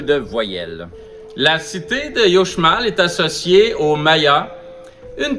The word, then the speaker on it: Uxmal: Son nom s'écrit Uxmal, mais on doit prononcer Uxmal, ce qui signifie en langage maya « construit 3 fois ».